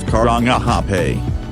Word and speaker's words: Karangahape: them out six currently hydro current hype pronounced Karangahape a is a long road with a long